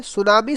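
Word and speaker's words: tsunami: सुनामी शब्द जो है ये जापानी शब्द है, जिसमें टी साइलेंट होता है।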